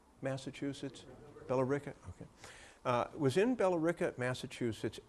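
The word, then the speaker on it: Billerica: this his grandfather richard was in is it pronounced bellarica massachusetts belarica okay was in belarica massachusetts at least as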